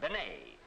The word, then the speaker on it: Bennett: for Joan Bennett now sometimes they give her name the French pronunciation Benet and Benet and Benny sound very much alike have a cigarette Jack